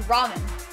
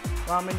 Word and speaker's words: ramen: have something to confess i've always been pronouncing it as raymond man raymond man oh that makes sense that's when i first thought of your name but then my sisters were like no that's wrong you're wrong also raymond is how you